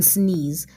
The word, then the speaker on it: sneeze: And we cannot hear the sound for the letter E in sneeze. That's why you see a cross under the letter E in the coding, because it means the E is silent.